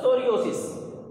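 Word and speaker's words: psoriasis: ये है आपका सोरियोसिस, इसमें पी साइलेंट है, तो सोरियोसिस।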